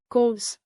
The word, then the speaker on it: kos: Break it down. Wat like what. Plus kos like cost.